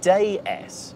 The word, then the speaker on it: DS: actually a pun because in French that's pronounced day s which is the French word for goddess seems appropriate don't you